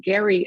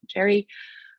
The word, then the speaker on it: Gerry: think at the time the name was actually pronounced gary and not jerry um that's how it